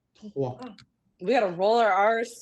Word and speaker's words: trois: Trois. Troughs. And now let me tell you, the S at the end of any word in French is silent. Okay. So you wouldn't say trois, you would say trois.